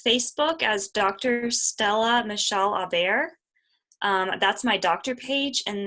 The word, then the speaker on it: Aubert: It's Aubert. I didn't even notice. Sorry. Like you're I messed totally it up the fine. first time, but it's Aubert.